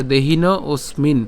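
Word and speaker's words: দেহিনোঽস্মিন: এরপর এখানে যে হ আছে এটা আসলে অর্ধমাত্রার হ, যার উচ্চারণ কার মতো হয়? অয়ের মতো হয়। তাহলে এখানে উচ্চারণটা কেমন হবে? ওসমিন, ওসমিন। ঠিক আছে, দেহিন ওসমিন।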